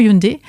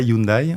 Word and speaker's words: Hyundai: Donc déjà on dit pas Hyundai, on dit Hyundai hein.